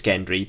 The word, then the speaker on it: Gendry: his name is it Gendry yeah again I keep wanting to say Gendry and I've written it down no it's Gendry but I want to say gently but I know it's Gendry and so apologies in